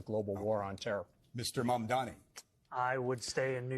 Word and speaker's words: Mamdani: Yeah, Mamdani.